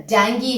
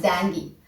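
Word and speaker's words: dengue: Covid एक तरह का वायरस है, जैसे मलेरिया है, डेंगी है। यस, इट्स the pronunciation is डेंगी। Hindi में आप डेंगू बोलते हैं, लेकिन इंग्लिश में इसका प्रोनाउंसिएशन है डेंगी।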